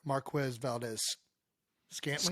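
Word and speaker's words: Marquez Valdes-Scantling: Anyway, Cisco made another violent hit on Chiefs wide receiver Marquez Valdez Scantling.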